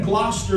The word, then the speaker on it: Gloucester: He was born in Gloucester, is the way that's pronounced. Gloucester, England, 1714.